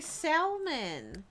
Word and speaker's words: salmon: No one pronounces the L. You're making that. No, I swear. I've heard people say salmon.